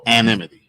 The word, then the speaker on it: anonymity: The two people who spoke to the Associated Press spoke on condition of how you pronounce this? Oh, anonymity.